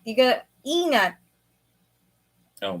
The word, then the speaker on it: ingat: It's not ingat. You gotta ingat. Oh, the G is pronounced as an N.